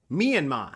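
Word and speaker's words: Myanmar: mat it's an interesting situation isn't it but mean ma that's how you say it myanma um moving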